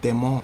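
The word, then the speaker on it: Demons: Demon, he said it's pronounced Demon. His last name is Demon. It's D-E-M-O-N-S.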